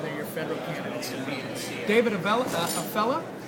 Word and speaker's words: Avella: David Avella, did I say it right? Good fella? Avella. That's right.